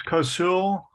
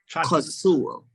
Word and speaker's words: Kosoul: But I pray for, I can't pronounce his name, the young man. Someone said Chris, I guess that's a nickname. It's Cosul. Cosul.